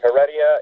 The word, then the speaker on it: Heredia: it's actually both correct if you pronounce it in English its Heredia if it's in Spanish